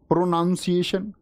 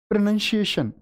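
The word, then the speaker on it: pronunciation: करें प्रोनंसिएशन कैसा होगा तुम बोल रहे हो प्रोनाउंस एशन प्रोनंसिएशन गलत उच्चारण है प्रोनंसिएशन आप बोलते वर्ब वी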